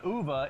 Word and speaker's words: Ove: And that's probably because people can't pronounce Uva because most people say O.